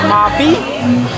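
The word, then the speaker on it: mauby: Yeah, and there's different ways of saying it. There's Mobby. I think the Puerto Ricans say it, Mobby, and we say it Mobby.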